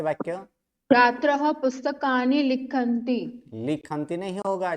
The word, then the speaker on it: छात्रैः: छात्रः पुस्तकानि लिखन्ति।